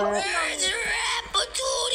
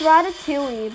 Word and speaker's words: Ratatouille: Rat Patootie! Great! Rat Patootie! Go! Getting ready. You're gonna die. I don't know. I don't even know how you say it. It's Ratatouille, but yeah.